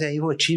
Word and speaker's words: Ivoti: Mas aí ficaram no que tá corrigindo, todo mundo fazer como é que se pronuncia, etc. Daí ficou Ivoti. Mas você é gaúcho, aqui em Minas Gerais é Ivoti mesmo.